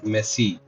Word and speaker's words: Messi: एक काम करते हैं, तो how many goals has Lionel मेसी का स्पेलिंग क्या होता है? सॉरी, मुझे पता नहीं है, ठीक है। लियोनेल मेसी, है ना, यही है ना इसका स्पेलिंग, मेसी, मेसो नहीं, लियोनेल मेसी, ठीक है।